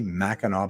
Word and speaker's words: Mackinac: Mackinac Island Mackinac Island why do you say Mackinaw but you spell it Mackinac I don't get that